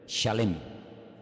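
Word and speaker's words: שלם: esa palabra no es se escribe Exactamente igual que la palabra shalom con las mismas letras Exactamente igual pero se pronuncia diferente shalem shalem es completo shalom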